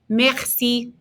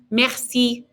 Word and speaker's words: merci: at the bottom merci it's a good opportunity to pronounce that R in the back of our throats again remember the r in the back of your throat is a H so rapid say merci merci good and give one